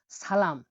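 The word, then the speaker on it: salom: দেখুন দেখুন, সালাম, সালামকে উজবেকিস্তানে বলা হয় সালোম, সালম মানে হলো সালাম।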